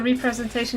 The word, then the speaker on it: representation: Also, representation is pronounced rep. Representation. Only clarifying because you seem to prefer. Oh. Representation. Represent. Oh yeah, I'm focusing on the re instead of rep.